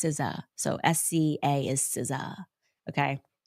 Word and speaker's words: SZA: I was like, who's Za? Because it's spelled SZA. I was like, Lizzo and Za have me in their song. And she looked at me, Mia, and she was like, it's SZA.